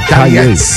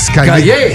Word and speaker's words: Calliet: How you say your last name, brother? Y'all said it right. Calliet. Calliet. Y'all said it perfect.